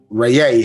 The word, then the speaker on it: Ra: Yeah, so Ra, but pronounced Rayay properly.